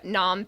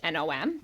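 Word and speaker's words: Phnom: We went on our own to Nom Penn's famous landmark, Watt Nom. That's ph N O M. PH is silent. Wat Nom.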